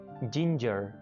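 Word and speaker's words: ginger: जिंजर, जिंजर, जिंजर, इसको आपने ध्यान रखना है, इसको कुछ लोग गिंजर बोल रहे होते हैं, जी को गाफ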